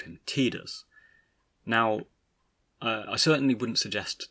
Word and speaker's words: Tidus: should be verbalized and so he ran with tida's and that subsequently echoed out to the teams